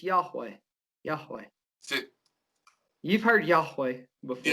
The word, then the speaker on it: Yahweh: research on it but yahweh is it's four syllables and it's the breathing syllables in the hebrew language so that means that